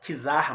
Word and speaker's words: czar: A palavra czar, né, que se escreve com C, czar, mas se pronuncia czar, significa significa César, é uma derivação da palavra César.